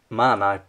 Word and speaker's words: MAN: It's a bit like man, and some people call it MAN, but it's your choosing what you want to call it.